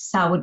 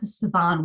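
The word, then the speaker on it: Samhain: on October 31st and I've either called it's sour or Saban Saban was the pronunciation I was taught so like that definitely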